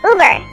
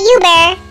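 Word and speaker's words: Über: It is pronounced Uber, not Uber or Uber.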